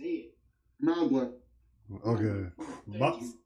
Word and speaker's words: Mauga: Mauga. Okay. That's how you pronounce it.